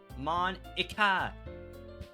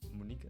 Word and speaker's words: Monika: Monica, that's not how you say my name at all. Oh. Mon. Is it not Monica? Is it Monika? Monika. Oops.